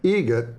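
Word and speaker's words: Eget: It's a joke, an Adam Egret joke. How do you say the name? Adam Egret. Egret. Spelt differently. Like the bird.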